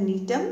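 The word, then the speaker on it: Gnetum: इज़ an example of द नीटम where ji is silent.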